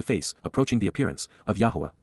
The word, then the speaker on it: Yahowah: Lapana, face to face, approaching the appearance, of Yahowah, Yahowah, the proper pronunciation of the name of Eloah, God as